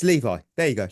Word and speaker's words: Levi: I watched it it's Levi there you go like the jeans and then that took